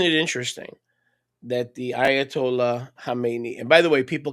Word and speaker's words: Khamenei: One side note, isn't it interesting that the Ayatollah Khamenei, and by the way, people can't pronounce it. They say Khomeini. That's not Khomeini. Khomeini is the guy that he succeeded. Okay, it's Khamenei.